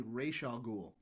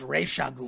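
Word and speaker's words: Ra's al Ghul: UCLA language department and that it would be Raa ghoul it's Raa ghoul so they say Raa ghoul and this is from like an old comic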